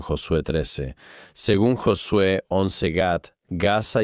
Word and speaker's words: Gat: Según 1 Samuel 17:4, la ciudad natal de Goliat era la ciudad filistea Gat, pronunciada así en hebreo.